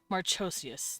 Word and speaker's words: Marchosias: Marchosius, that's how you say it.